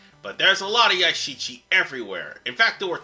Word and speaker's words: Yashichi: give me a second it's a shichi i mispronounced the damn thing in part two and one but there's a lot of yashichi everywhere in fact there were two parts in